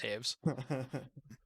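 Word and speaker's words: Toews: the big thing devontaves devitos is what i'm gonna call him but his name's pronounced taves he's new he's really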